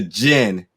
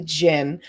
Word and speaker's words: Djinn: reviewing the film the gin the d is silent folks uh which is coming to theaters and on demand may 14th now today we're diving into this film called the gin it's about a young